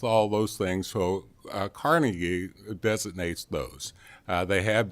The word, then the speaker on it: Carnegie: can't design it yourself a Carnegie or carnegi whichever way you want to pronounce it I'm from Eastern Kentucky so I say Carnegie uh you know they